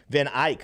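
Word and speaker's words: VanEck: but we have is am i saying this right van eck refiles how do you say that name van ike oh the good pronunciation there then i could be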